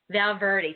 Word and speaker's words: Valverde: been saying your name right how is it pronounced um my last name is about word Valverde said got it right once and then then